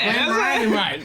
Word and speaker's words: Glenmorangie: There is an I in there, and it's just orange on the end, so it could be Glenmorangie.